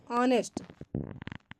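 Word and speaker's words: honest: पहले आता है तो वहां एच का उच्चारण नहीं किया जाएगा किसी भी स्पेलिंग में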